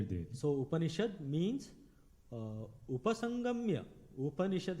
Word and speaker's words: Upanishad: Upanishad has got 3 one, Upa, Ni and Shad.